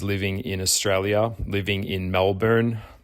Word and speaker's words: Melbourne: in australia living in melbourne melbourne as the americans say and [ __